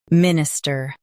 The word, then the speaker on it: Minister: Both US and UK have the same pronunciation of this word. Minister. Now read the syllables shown on the screen naturally. Min. I. Stir. Minister. Stress min and keep ister light.